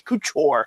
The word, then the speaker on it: Couture: And now you ruined Kenny and Pierre are saying the same thing, and I'm like, no, it's Couture. Say it right.